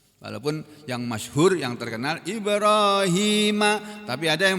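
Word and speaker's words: إبراهيم: Walaupun yang masyhur, yang terkenal Ibrahima, tapi ada yang bacanya Ibrahama.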